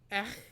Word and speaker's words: ech: Okay, so Emily, they say horse is pronounced ech, E-C-H, ech, etch, ech.